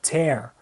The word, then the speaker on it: tear: E é curioso também que se eu mudar a pronúncia, se eu disser tear, significa lágrima. Mas como verbo, né, ele vai ter a pronúncia mais aberta, tear.